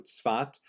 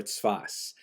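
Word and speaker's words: צפת: Israel city of Safed, pronounced in Hebrew Tzfat or Tzfas.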